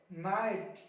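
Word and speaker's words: knight: अभी के लिए हम लोग सीख रहे हैं एन से पहले के साइलेंट, इसको पढ़ेंगे नाइफ, नीड, नॉक, नॉट, नी, नी, नकल, नाइट, नॉब, नेक।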